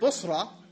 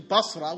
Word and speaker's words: Busra: in his ignorance he took the word busra and he mispronounced it to Basra which is a city in Iraq and he said oh